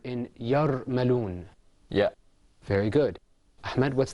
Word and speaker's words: يرملون: That word is pronounced yarmaloon.